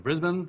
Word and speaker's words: Brisbane: here for the day but I'm off to Brisbane I've learned how to say it I used